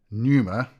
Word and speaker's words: pneuma: Neuma, n e u m a, meaning sign, and pneuma, there's a silent p there, p n e u m a, meaning breath.